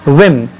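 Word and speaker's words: whim: त्याच्यानंतर आहे विम. Spelling बघा, दिसत आहे हां.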